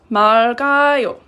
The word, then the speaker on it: 맑아요: But when it's pronounced in 맑아요, you pronounce the lil and then you add, it's pronounced like this when you say it in present tense. This is pronounced 맑아요.